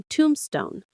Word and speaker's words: tombstone: That's a tombstone. The stress is on the first syllable, tomb. Say it with me, tombstone. It's like tomb, as in King Tut's tomb, and then stone.